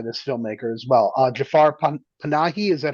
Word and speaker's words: Jafar Panahi: Uh, Jafar Panahi, is that how you pronounce it? Yeah, I was going to ask, have you seen anything else by Jafar Panahi?